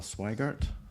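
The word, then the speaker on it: Sweigart: library written by al swigert and i think that's how you pronounce his name rhymes with wider um he's an author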